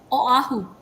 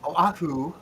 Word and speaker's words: Oahu: Because because every vowel is pronounced separately, right?